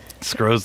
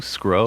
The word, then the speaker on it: Scro: So, like, am I saying it right too? Scro? Scro, yeah. Scro, baby, Scro, yeah.